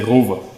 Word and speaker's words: ROWE: guys it's ro um German you would say I don't know if it correctly but I'm going to say rova. Yeah. See, there we go. There we go. So, it's but English people will say it wrong and that's okay.